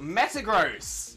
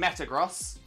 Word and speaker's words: Metagross: and Metagross but uh of course gross makes the most sense there mainly because that's how you pronounce gross both in the like Financial way and the oh that's gross kind of way yeah Metagross I probably